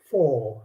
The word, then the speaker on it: four: that okay that's four what happened to the r it goes silent and you keep the o longer so you pronounce that four not four four and